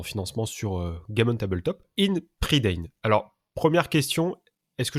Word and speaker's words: Ynn Pryddein: sur Game on Tabletop, In Predain. Alors, première question, est-ce que je prononce bien? Oui. Bon, Enfin, tu le prononces à la française.